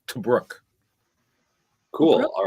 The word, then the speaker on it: Tobruk: So this is actually Interior Fort Torbuk. Torbuk. Perfect. How do you pronounce that? No idea. It's in the Sudan. Yeah, I was about to say, I believe that's Tobruk.